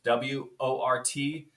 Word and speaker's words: wort: So what we have is that sweet tea, which is called wort, W-O-R-T. It's pronounced wort, okay?